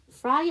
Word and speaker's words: Flight: Captain, Flight Attendant, Cabin Crew. 자, 여러분 여기 전체 슬라이드 중에서 묵음을 갖고 있는 단어가 있어요. 그렇죠. ID의 GH, Flight에서 GH가 묵음입니다.